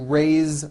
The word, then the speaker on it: raise: Raise meaning like to raise my hand. Now this word is a bit unusual because even though it is spelled with an s, it's pronounced with a voiced Z.